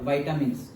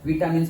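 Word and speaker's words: vitamins: Next now enzymes के बाद next topic है हमारा विटामिन्स और वाइटामिन्स, दोनों प्रोनाउंसिएशन होते हैं। विटामिन्स पहले से बोलते आ रहे हैं और वाइटामिन्स थोड़े टाइम से प्रोनाउंसिएशन स्टार्ट हुआ है।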